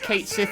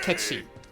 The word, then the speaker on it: Cait Sith: Also, it's not pronounced Cait Sith, it's pronounced Ketsi. God damn it! God damn you! God damn you! Because it's, like, Celtic, I think.